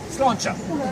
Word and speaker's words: sláinte: How do you say cheers in Irish? Yeah, sláinte. Take the TE off the end of it. Slán simply means goodbye. Right? So slán, goodbye, sláinte, cheers.